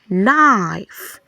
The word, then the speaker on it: knife: So your letter K here sounds Your letter K here sounds The K is silent. It's taking the sound of letter N.